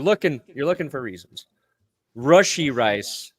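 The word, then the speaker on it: Rashee Rice: you're looking for reasons rushy rice not RI okay okay you know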